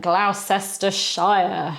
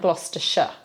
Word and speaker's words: Gloucestershire: Gloucester and Gloucestershire, surely. Well, that's how you hear some tourists referring to the city and the county. No, it's Gloucester and Gloucestershire. Okay, so it's a sh sound at the end.